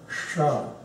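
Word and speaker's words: ष: From Pa, that is Sha. It's between S and SH, not very commonly used, so this you can just pronounce as SH, but you will see it.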